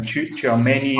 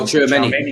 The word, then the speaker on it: Tchouameni: I can't pronounce his name. Tchouameni. Oh, Tchouameni.